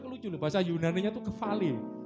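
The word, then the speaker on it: κεφαλή: Saudara lucu loh, bahasa Yunaninya itu kefale. Tulisannya KEPH, P-nya itu PH, kepale gitu ya. Tapi PH itu bacanya F, kefale.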